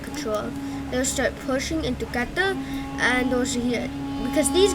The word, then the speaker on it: Qatar: So these guys will quickly start planning to do a counter-offensive into Qatar. That's how you pronounce it.